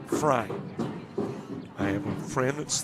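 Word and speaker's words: Frey: His last name spelled F R E Y and he pronounced it Fry.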